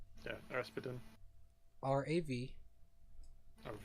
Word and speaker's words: Ravatan: His name is Ravatan. I'll relay that name. Oh. Or I'll spell it out. RAVATAN. Ravatine.